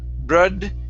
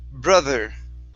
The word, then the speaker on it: brother: th in brother okay instead of saying brother brod it's broth brother brother okay give me a